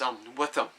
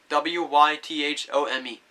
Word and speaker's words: Wythome: And his name is Wythome, W-Y-T-H-O-M-E. But you can also pronounce it as W-I-T-H space U-M. And how you say it again is Wythome.